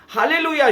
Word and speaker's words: Hallelujah: आप अगर इसका इंग्लिश वर्जन देखोगे तो एच A double L ई यू जे एच होता है। यानी कि य का उच्चारण हब्रू में ज से लिया जाता है। इसलिए हालेलुया शब्द हब्रू बाइबल से में मिलता है आपको।